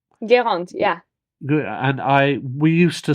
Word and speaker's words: Guérande: And forgive me if I don't pronounce the name, but it's called Guérin. Guérande, yeah.